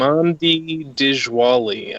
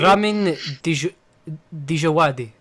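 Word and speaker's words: Ramin Djawadi: Ramandi Dijwali, I think his name is.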